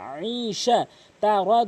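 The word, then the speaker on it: عِيشَةٍ: এখানে এই তানভিনকে কখনোই গুণনা করবেন না। এই তানভিনের পরে যদি কখনো বা নুন সাকিনের পরে যদি কখনো র এবং লাম দেখেন তাহলে কখনোই গুণনা হবে না, গুরুত্বপূর্ণ নিয়ম।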